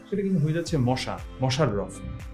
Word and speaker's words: মশাররফ: কিন্তু হয়ে যাচ্ছে মশা মশাররফ তো মনে হতে পারে যে মোশাররফ আমি উচ্চারণ করছি কিন্তু কেন মোশাররফ লিখছি আসলে এইগুলো আমাদের খেয়াল